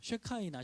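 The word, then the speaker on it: שכינה: 쉐카이나, 쉐키나라고 읽는데 이 말이 원래 어디서 나온 말이냐면 이웃집 사람을 샤켄이라고 읽어요.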